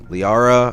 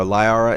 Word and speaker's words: Liara: Um Liara or Liara, it depends on how people want to pronounce her name.